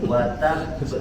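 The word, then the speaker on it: وَتَبَّ: Nanti soalnya akan ketemu ya ketika kita baca Quran, ada huruf-huruf qalqalah bertasydid ketika itu diwaqaf. Jadi cara bacanya gitu, sebelum dipantulkan ditahan dulu.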